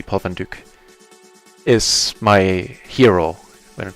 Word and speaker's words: Paul van Dyk: Paul van Dyk, or as they unfortunately have to pronounce him in English, Paul van Dyk. Actually, this should be Paul van Dyk.